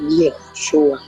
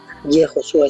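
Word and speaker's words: יהושע: Entonces, la pronunciación correcta o más antigua del nombre de Jesús en hebreo es Yehoshua. Yehoshua, esa es la pronunciación antigua.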